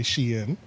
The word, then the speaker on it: Shein: ever heard say Shein. it's Shein because everybody pronouncing it wrong. Right. Yeah, literally I everybody. had to Google it because Shein, yeah.